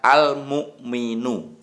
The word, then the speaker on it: Al-Mu'min: Ya, ini tulisan Arabnya, bacanya adalah Al-Mu'minu.